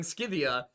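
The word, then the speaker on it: Scythia: day by my viewers for saying Skivia cuz it's that's how it's pronounced. You're such a Skibby. That is how it's pronounced. The Greeks didn't have the letter C.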